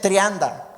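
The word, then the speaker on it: τριάντα: 30 en griego se dice trianda.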